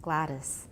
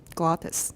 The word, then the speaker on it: glottis: the state of the glottis Gladys Gladys slag wha just glottis mm-hmm for what part